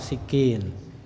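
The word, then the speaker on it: سكين: Kemudian asikinu, pisau, asikin, sinya di kasrah, sikin.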